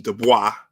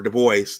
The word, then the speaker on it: Du Bois: Du Bois, or Du Bois, depending upon how you pronounce it, they were rivals because